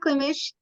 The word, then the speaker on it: Klimish: Next, we're going to hear from Jessica Klimish. Yes. Is that how you pronounce it? I should have asked you also how to pronounce it. That's correct, though. You got it. Jessica Klimish, she, her, is a